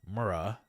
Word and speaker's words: Mara: Mar like car, right? And then uh Mara.